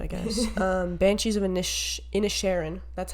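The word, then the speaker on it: Inisherin: get to it I guess um banshees of initial in a Sharon that's how you pronounce it because I watched it I watched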